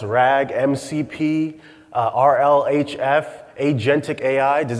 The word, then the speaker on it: RAG: RAG, pronounced RAG, MCP, RLHF, Agentic AI.